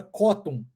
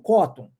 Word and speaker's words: cotton: Muito usado, né, para camisa e falar 100% cotton. Então, em inglês, a pronúncia certa disso é cotton. Cotton. Ó, a gente omite o som do T.